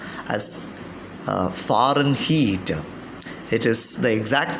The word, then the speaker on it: Fahrenheit: about fahrenheit though the word fahrenheit is usually pronounced as foreign heat it is the exact pronunciation as for the cambridge advanced learners dictionaries fahrenheit now fire and height is used more commonly in the united states